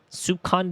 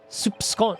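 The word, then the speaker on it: soupçon: Soup son. Soup son. Soup son. Soup son. That's how it's pronounced. Soup son. Very French.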